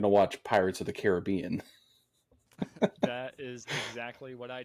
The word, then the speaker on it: Caribbean: I think too because it has an I in it, So I want to say Caribbean because of the I, but Pirates of the Caribbean, it's Caribbean in that movie.